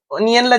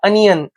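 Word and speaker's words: onion: आणि ऑनियन पण पण ओनियनला ज्यावेळेस आपण कट करतो ना आणि राऊंड शेपचा येतो म्हणजे पर्याय क्रमांक तीन आपलं उत्तर असेल अनियन बरेच जण याला ओनियन वाचतात बट करेक्ट प्रोनन्सिएशन काय त्याचा अनियन दुसरा प्रश्न चज द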